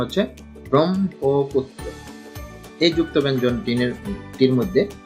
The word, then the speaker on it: ব্রহ্মপুত্র: ব্রহ্মপুত্র, সঠিক উচ্চারণ হচ্ছে ব্রহ্মপুত্র। এই যুক্ত ব্যঞ্জন টির মধ্যে হ এবং এর সঙ্গে ম ফলা যুক্ত রয়েছে। হ এর সঙ্গে ম ফলা যুক্ত হওয়ার কারণে আগে ম উচ্চারণ হবে এবং তারপরে হ উচ্চারণ।